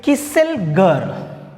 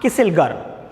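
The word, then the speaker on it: Kieselguhr: था, इट is also called as, that is किसेलगर, also called किसेलगर। Spelling देख लो आप, KEISELGUHR, किसेलगर।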